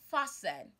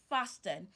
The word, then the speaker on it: fasten: Christmas today s Christmas fasten fasten your seat belt is fastened and not fastin wrestle to wrestle to